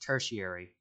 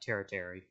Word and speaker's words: tertiary: yeah editing me here it's pronounced tertiary not teritary we got the color